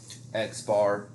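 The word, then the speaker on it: x̄: bar right and that is how we would pronounce that so x bar a lot most of the time these sample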